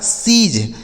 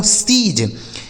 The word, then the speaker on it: siege: SIEGE इसे पढ़ा जाएगा सीज। क्या पढ़ा जाएगा दोस्तों, सीज।